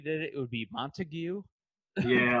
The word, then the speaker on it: Montague: But it's like if you phonetically did it, it would be Montague.